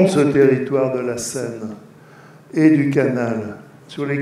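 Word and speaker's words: Senne: autre dimension à Bruxelles le long du canal et d'une rivière qui s'appelle curieusement la scène mais ça s'écrit pas de la même façon ça s'écrit 2 et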